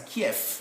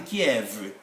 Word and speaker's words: Kiev: they have different sound we can write v but we pronounce it as f the capital city of ukraine is written like this we should read it as kef not the kiev the gun which criminals